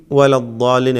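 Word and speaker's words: ولا الضالين: എന്നാൽ വലദ്ദാലീൻ ഈ ദീർഘം ദ്വാദിൻ്റെ അലിഫിന് കൊടുക്കുന്നതായ ദീർഘം അൽ മദ്ദുൽ ലാസിം എന്ന ദീർഘമാണ്. ഇത് 6 ഹറക്കത്തിൻ്റെ അളവിൽ ദീർഘിപ്പിക്കൽ നിർബന്ധമാണ്.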